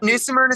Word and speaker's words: New Smyrna: It's new Smyrna Speedway.